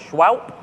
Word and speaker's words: Shwowp: They're pronounced Shwowp.